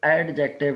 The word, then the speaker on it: adjective: इसको एडजेक्टिव, डी इसके अंदर से साइलेंट होता है, एडजेक्टिव नहीं कहना, एडजेक्टिव।